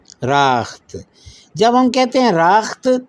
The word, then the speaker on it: رخت: کیا ہوا اس کا تلفظ؟ راخت.